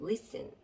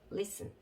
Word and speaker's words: listen: 그러면 합해서 읽어보면, 여기에서 T는 말씀드리다시피 묵음 소리가 안 나기 때문에 listen 이렇게 발음을 해주시면 안 되고 listen 이러고 발음을 해주셔야 되겠습니다. listen 이렇게 하면 못 알아듣고요. T 소리를 내지 않는다. 그래서 listen.